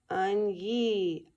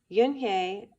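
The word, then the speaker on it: Unhei: Everyone tried to say it. Yunhye, Un-yi, An-hye. Yunhye said her name again slowly and clearly. Soon the kids began to say it better, even Mr.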